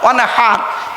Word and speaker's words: ওয়ানহার: ফাসাল্লি লিরাব্বিকা ওয়ানহার, কি বললাম? ফাসাল্লি লিরাব্বিকা ওয়ানহার, উচ্চারণটা ঠিক রাখুন। ওয়ানহার, ওয়ানহার নয়, ওয়ানহার। এই গলার ভেতর থেকে হে এটা উচ্চারণ করবেন।